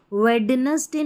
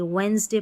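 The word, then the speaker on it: Wednesday: जैसे कि यहाँ पर देखिए, इसको वेडनेसडे नहीं पढ़ेंगे, वेंसडे पढ़ेंगे, वेंसडे, ठीक है, वेंसडे पढ़ते हैं इसको।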